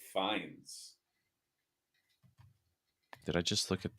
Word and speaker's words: Fiennes: His name is actually pronounced Ralph Fiennes.